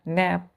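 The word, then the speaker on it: knap: एस आई एल ई एन टी के यहां silent होगा प्रोनंसिएशन क्या करेंगे इसका नप नप एक है एन ए प नप क्या है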